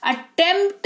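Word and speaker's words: attempt: अटेम्प्ट नहीं अटेम्प्ट पढ़ते हैं। ठीक है? अटेमप्ट पढ़ते हैं तो पी साइलेंट अगेन यहां पे होता है जिसका मतलब होता है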